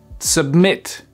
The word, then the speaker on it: submit: verbes, vous faites pause, vous prenez le temps de vous entraîner à les accentuer sur la 2e syllabe et vous vérifiez juste après. Refuse, refuse. Prefer, prefer. Occur, occur. Submit, submit.